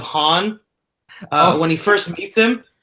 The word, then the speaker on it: Han: where they explain why Lando says hand instead of Han when he first meets